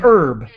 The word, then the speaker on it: herb: is a spice well an herb we say and we we do not pronounce the h that is an herb how can i read